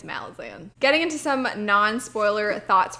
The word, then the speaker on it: Malazan: he pronounces it not Malazan, not Malazan, but Malazan. I have never heard anybody else call it Malazan before. Even the audiobook narrator is like, nah, it's Malazan.